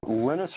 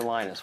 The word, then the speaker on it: Linus: before and that's when Venus Torvalds came along Linus or Linus what's the exactly your preferred pronunciation um when I speak Swedish it's Linus when I speak Finnish it's Linus when I speak English it's Linus and I